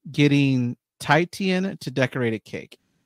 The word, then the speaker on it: Titian: But her way of doing it is like getting Titian to decorate a cake. Yeah, Tishian actually. I believe at least that's how they pronounce it.